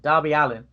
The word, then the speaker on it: Darby Allin: I keep saying it wrong. Darby Allin. Go.